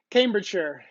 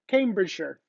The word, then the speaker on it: Cambridgeshire: right jackie cambridgeshire cambridgeshire because i know you don't say shire like it's derbyshire i have a friend that used to work with me she said she's told me where she was from i said oh derbyshire she goes no no it's derbyshire hopefully i'm pronouncing it right